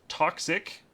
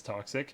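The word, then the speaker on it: Toxikk: cool next up is toxic pretty sure I'm saying that right it's spelled t x i k k so pretty sure it's toxic it is a PC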